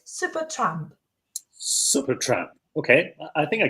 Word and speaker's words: Supertramp: And remember the word supertramp from our earlier conversations, that first syllable has the a sound, tramp. Try saying it, supertramp.